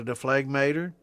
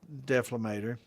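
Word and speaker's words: dephlegmator: And this has got a deflagmator, or a deflamator, depending on how you want to pronounce it. It's deflamator.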